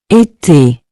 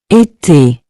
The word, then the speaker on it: été: This accent gives the E a clear, closed sound, similar to the A in the English word, say.